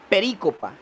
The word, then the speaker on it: perícopa: Se escribe así como se escucha. Peri, con tilde en la I y copa. Perícopa.